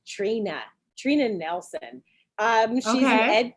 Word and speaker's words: Trina: her name is is it's it's pronounced it's pronounced trina but it's spelled t-r-i-n-a uh nelson n-e-l-s-o-n i